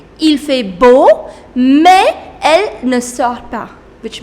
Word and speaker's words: mais: Mais. You do not pronounce this S. This is mais.